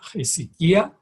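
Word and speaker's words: ἡσυχία: hasta el sic hasta viene del griego es sequía se pronuncia y sequía que significa estado de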